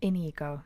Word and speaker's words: INEGO: So we pronounce the name of the band INEGO, just for future reference.